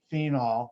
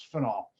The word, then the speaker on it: phenol: eons before IUPAC, and I pronounce it differently. I've had running arguments over with other chemists how to pronounce it. I believe I'm right. And this is phenol. Some of you have heard it called phenol. Now it's phenol.